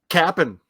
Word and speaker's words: Cap'n: And it's Cap'n. Cap'n Crunch, yes. And actually, it's spelled that way too.